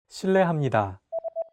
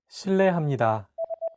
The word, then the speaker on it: 실례합니다: 르, It sounds like a mixture between an R and an L sound. 르, 르. Altogether, it's 실례합니다. Okay, one last time. 실례합니다.